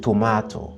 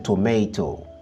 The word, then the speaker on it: tomato: Pour les Britanniques, c'est tomato. Pour les Américains, c'est tomato. Je répète, pour les Britanniques, ils disent tomato. Pour les Américains, on dit tomato.